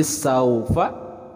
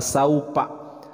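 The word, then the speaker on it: سوف: Jadi saufa dibacanya pendek karena ini adalah haraf lin. Saufa. Nah, untuk pelafalan huruf fa juga jangan sampai tertukar, bukan saupa, tapi yang tepat adalah saufa.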